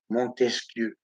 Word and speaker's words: Montesquieu: les Montesquieu, les Arabes, ils ne savent pas dire, prononcer Montesquieu, Montesquieu, l'élégance de la langue française, Montesquieu.